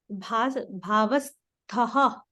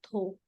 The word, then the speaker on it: Bhavasthaha: Here, Bhavasthaha, not Tho. Bhavasthaha.